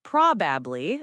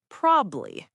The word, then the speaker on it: probably: Another one is probably. Many people say probably, but the correct pronunciation is probably.